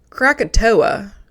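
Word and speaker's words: Krakatoa: It's crackatoa, but it's in Indonesia that's spelled crackatau. So that's the difference.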